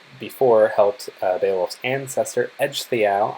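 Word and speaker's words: Ecgtheow: helped they lost ancestor edge the ow I know it's not how the name looks like it's pronounced but I promise that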